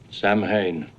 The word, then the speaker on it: Samhain: Samhain.